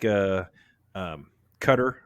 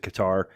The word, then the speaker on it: Qatar: Um, you know, I think a place like Qatar, or a lot of people pronounce it Qatar.